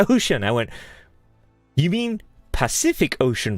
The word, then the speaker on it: Pacific: we will conclude so how do you pronounce that word well the path cific ocean Pacific Ocean I remember my friend he said hey jazz the specific ocean oh and what the